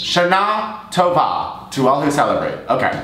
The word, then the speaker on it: Shana Tova: The second syllable of both words. Shana Tova to all who celebrate.